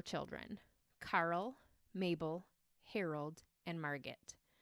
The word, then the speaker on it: Margit: Karl Mabel Harold and Margit not Margaret I'm not pronouncing it wrong it was Margit em argi T little Karl loved trains